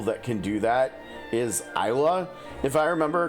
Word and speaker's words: Isla: Because if you think about like the word island, you know, like if we look at the map and we look at like some islands in the game, right? Like the the S is the S is silent, right?